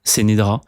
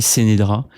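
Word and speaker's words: Ce'Nedra: une fille qui s'appelle, j'ai jamais trop su comment prononcer son nom parce que elle était, c'était écrite C-E', N-E-D-R-A, je crois, Sénédra. Moi, j'ai toujours appelé Sénédra.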